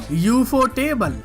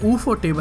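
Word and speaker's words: Ufotable: लिया अपने एनिमेशन से, डीमन स्लेयर के साथ, यूफो टेबल, या इसको ऊफो टेबल बोलते हैं भाई। ये इंग्लिश के प्रोनाउंसिएशन की कंफ्यूजन है, खत्म ही नहीं होती साली कभी भाई।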